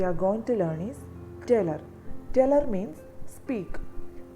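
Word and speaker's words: taler: The next word we are going to learn is teller.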